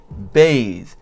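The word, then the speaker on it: bheidh: So it started off in the post-Indo-European, Faith started off in the Pi language as B-H-E-I-D-H, and it is pronounced bathe, and it means to trust, confide, and persuade.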